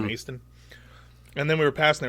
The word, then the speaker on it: Macedon: Which is spelled like Macedon. It's Macedon, but they call it Maeston.